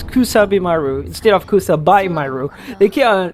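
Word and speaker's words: Kusabimaru: don't know western western people player keep on pronouncing cusabi Maru as Kus kab Maru which is very very very mispronunciation there it's kusabi Maru instead of kusu they say it's kabu it's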